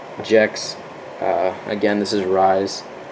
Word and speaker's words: Rys: Again, this is Rise. It's spelled R-Y-S, which is kind of weird, but Yoda pronounces it Rise. I thought it was Raise, but it's whatever.